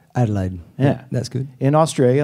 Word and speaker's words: Adelaide: Am I pronouncing it right? Adelaide.